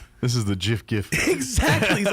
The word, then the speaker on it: GIF: But yeah, he's the creator of the actual thing says it's supposed to be pronounced GIF.